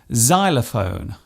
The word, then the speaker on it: xylophone: It often starts a word by being pronounced as Z, such as in xylophone and xenophobia.